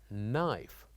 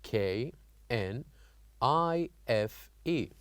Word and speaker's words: knife: k n we have k n i f e knife so here here we wrote the letter K but we don't say it we don't pronounce it we only keep it